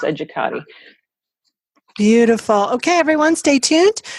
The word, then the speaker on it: Educate: edu CA te comm and educate is my last name pronounced educator beautiful okay everyone stay